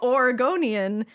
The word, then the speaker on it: Oregonian: For your mental health, Oregonian equals Oregonian. See, I said it right.